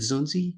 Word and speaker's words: Zunzi: First, am I pronouncing your name right? Is it Zunzi or?